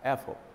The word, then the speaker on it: Apfel: gonna zip over to Apfel is how you say it or Apple Apple f4 with F sound or P P Apple like Apple like Apple ah Apple